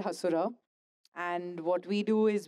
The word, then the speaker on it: Hasura: It's Hasura with the H. Stress. I was not sure how to Uh, pronounce Asura or Hasura.